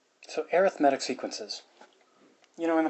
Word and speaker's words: arithmetic: seeing that word readed but if it's describing something like a sequence then the way that's pronounced is arithmetic so no I'm not